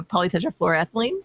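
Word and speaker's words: polytetrafluoroethylene: How do you say that one? Uh, polyetra flororethylene. Hey, you got that one. Nice.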